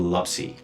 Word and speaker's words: lapsi: It's I'm gonna have to pronounce that in Nepalese way. It's called lapsi.